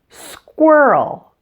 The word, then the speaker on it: squirrel: and quiet so the beginning of squirrel is squirrel for the W sound you need to round